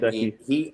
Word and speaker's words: Gesicki: Gesicki, if that's how you pronounce his name. Yeah, it's Mike And Gesicki.